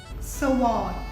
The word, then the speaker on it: sword: Sword. Similar to the word receipt, we have a silent letter here. In this case, it's the W. We don't pronounce the W, so we say sword.